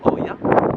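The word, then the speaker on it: Oia: Of the island will be the village of Ia. Otherwise, maybe pronounced as Oya. In Greek, when we put an O and an I, it directly becomes I. So it is pronounced Ia, yeah?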